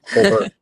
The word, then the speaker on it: Colbert: So I went to the then Hamilton County chair, Dana Colbert, which I just found out last night. By the way, I've been mispronouncing her name for like 3 years. Colbert, you pronounce the T.